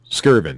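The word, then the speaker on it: Skirvin: accommodations uh the how do you say this skiren Hilton Hotel sken that's right that's what I meant to say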